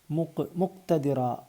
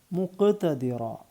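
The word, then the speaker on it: مقتدرا: ഇമ്മു ശൈഖ്ദിറ എടുത്തു പറയുക മുക്തദിറ തെറ്റാണ് മുഖ്തദിറ മുക്ക് എടുത്തു പറയണം നിങ്ങൾക്ക് അറിയാവുന്നതാണ് അപ്പൊ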